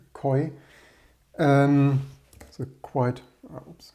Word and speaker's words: QOI: Continuing yesterday's, I think they actually want to, I should have mentioned it yesterday, I forgot to mention, I think they want to pronounce it koi.